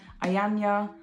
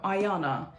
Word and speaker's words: Ayana: It's between him and Ayanya, Am I pronouncing her name right? These two. No, Ayana.